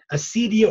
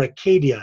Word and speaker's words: acedia: The next word is acedia or acadia, as they pronounced it in Greek.